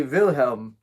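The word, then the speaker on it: Wilhelm: of films this the this is spelled with a V if it was that was changed to a w that would be vilhelm named after the uh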